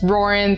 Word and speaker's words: Rauren: My name is Roran, that is pronounced like Lauren with an R instead of an L, and I help change